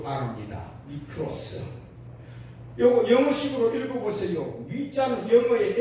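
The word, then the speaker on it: μικρός: 미크로스. 요거 영어식으로 읽어보세요. 위자는 영어의 M자하고 같습니다.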